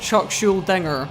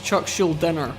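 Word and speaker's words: Chuck Schuldiner: not now I have no idea why I pronounced Chuck shoulders name with a G is not Chuck shielding er is Chuck shield dinner one of the most influential musicians in male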